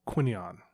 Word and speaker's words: Quinion: someone say his last name correct it's Michael quinion okay good again the my Kipling blue how do you not know how to pronounce the guy from an obscure website I